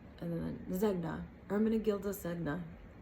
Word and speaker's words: Ermenegildo: Ermenegildo, and then Zegna, Ermenegildo Zegna. It's spelled E-R-M-E-N-E-G-I-L-D-O. Gildo, like dildo, but with a G at the end.